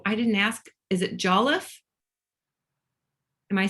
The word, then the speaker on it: Jolliffe: Is it Jolliffe?